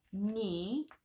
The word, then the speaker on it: knee: Knee, ginocchio. Knee, se si scrive con KN e si pronuncia knee, ginocchio.